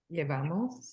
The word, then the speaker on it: Llevamos: Llevamos. Llevamos. Llevamos. We have to make sure we Llevamos. pronounce that with a ye.